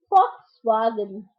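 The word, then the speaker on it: Volkswagen: be when they invade that is vlw Adie Fox wagon for Virginia it's not what probable for because V is pronounced as perfect for Robin okay now this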